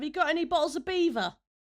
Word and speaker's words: Belvoir: It is it It is spelled b e l v o i r, Belvoir, but it's it's pronounced, as far as I'm I'm aware, Beaver.